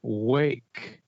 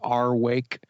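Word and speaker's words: Rwake: arkansas from little rock they're called wake but their band is spelled the band name is spelled r-w-a-k-e it's like it looks like it says our wake and i want to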